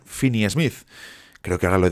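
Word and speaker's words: Finney-Smith: decíais el otro día que no es Dorian finy Smith sino Dorian finny Smith creo que ahora lo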